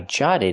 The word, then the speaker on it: jotted: I jotted it down. The double t is a fast d.